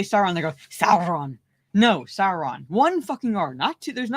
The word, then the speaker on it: Sauron: it's never been how you pronounce Sauron sauron's name it's Sauron just Sauron it's just because